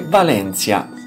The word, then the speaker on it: Valentia: crotone e vibo valentia che si scrive valentia ma si legge valentia economia settore primario ricordiamo